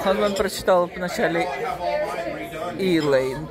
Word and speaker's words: Islay: Ну, в общем, это, слышите, заказали второй, другой совсем, с названием Islay Smoke. Smoke — это копченый, значит, а, ну, нет, смок — это дым. Islay. А Ханман прочитал вначале Islay, там S не произносится.